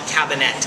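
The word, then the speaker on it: Kabinett: of like really super premium wines is called cabinet k a b i n e TT I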